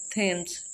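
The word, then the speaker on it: Thames: थेम्स। थॉमस भी इसको कहते हैं, थेम्स भी कहते हैं।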